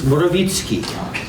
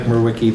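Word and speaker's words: Mrowicki: In Polish, it's Morawicki. Most of the people here know me as Mike Murwicki, though.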